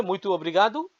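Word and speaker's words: muito obrigado: অনেক ধন্যবাদ thank you very much পুরুষ হলে মৈতুব্রিগাদু আর মহিলা হল বললে বলবেন মৈতুগাদা উচ্চারণ অর্থ সেম আপনাকে অনেক ধন্যবাদ আই এম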